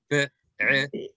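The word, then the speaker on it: בעבר: Be'ever. Be'ever. Be'eder. Ever. V as in very.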